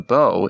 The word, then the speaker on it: Beau: word affects its pronunciation the name b is spelled the same as the first four letters of beautiful yet it takes on the bow sound not bu because its e auau letter grouping comes at the end of of the word foreign English Learners have